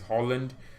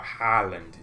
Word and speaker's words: Haaland: Why British people say Haaland is Holland? Well, I don't know. It's just how you say it. But Haaland, the A is there.